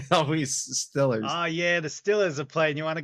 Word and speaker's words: Steelers: So like most people who live like in the heart of Pittsburgh, it's not the Pittsburgh Steelers, the football Oh team. God, It's the it's the Stillers, Pittsburgh Like Steelers. Ben Stiller. Like Oh, that's how they I say don't it.